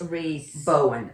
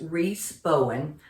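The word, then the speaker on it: Rhys Bowen: good and I did look up how to pronounce the author's name and it is Reese Reese Bowen r h y s Reese Bowen the Ghost of Christmas Past Amalie Murphy mystery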